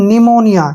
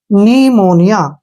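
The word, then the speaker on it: pneumonia: पहले प है तो यहां जो है हम पी का प्रोनंसिएशन नहीं करेंगे उच्चारण नहीं करना है तो इसको पढ़ेंगे हम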